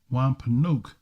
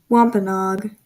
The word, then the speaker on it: Wampanoag: Wampanoag. Wampanoag. Okay, I said it wrong.